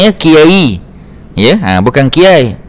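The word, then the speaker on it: Kiyai: Ya, ha, bukan kiai. Ejaan dia K I Y A I, ya, tapi bunyinya bukan kiai, bunyinya kiai.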